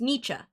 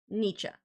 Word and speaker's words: Nietzsche: last name so it's Nietzsche that's what Google says and it's the American pronunciation Nietzsche Nietzsche okay Big Bang